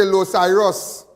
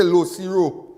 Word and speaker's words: Los Iros: Some people say Los Iros. But that's the correct pronunciation. But my grandmother used to say Los Ciro.